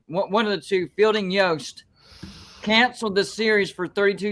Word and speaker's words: Yost: Unless Fielding Yost, or how do you pronounce it? Is it Yost or Yost?